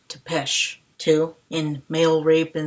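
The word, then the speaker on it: Țepeș: Number one, in Twilight, real vampires sparkle, I call Vlad the Impaler Topz when his name is pronounced Tesh.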